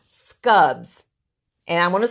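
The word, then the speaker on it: Skubb: have here so all right these are called scubs and I want to spell it for you it's an Swedish word SK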